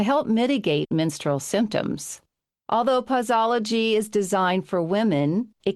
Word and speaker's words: Pauseology: Well, before we get into pausology, and I don't know why I have a hard time with saying that, does anybody else pausy pausy?